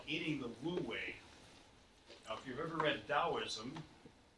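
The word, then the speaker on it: wu wei: play on words way actually stuff WEEI it's pronounced lui means not doing or without effort and the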